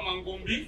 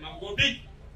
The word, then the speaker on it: Mangobi: Mon très cher beau-frère Ibidona, non seulement le nom a été mal prononcé, c'est pas Mangombi, c'est Mangobi. Mangobi.